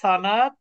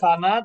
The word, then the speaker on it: সনদ: বিষয়টা পড়েছি একটা হল সানাদ আরেকটা কি মাতান একটা হল সানাদ আরেকটা হল মাতান যদি তো উচ্চারণটা সানাদ কিন্তু আসলে আমরা বলি কি সনদ আমরা কি বলি সনদ